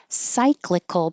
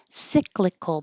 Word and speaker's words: cyclical: And it usually sounds like I when it's in the stressed syllable.